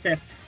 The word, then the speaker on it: Sif: Go watch Thor 1. That's how it's pronounced. It's pronounced Sif.